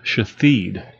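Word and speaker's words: Shithead: Without going into too much detail, there is a client on register whose name is Shithid. Okay, spelled S-H-I-T-H-E-A-D. Shithid.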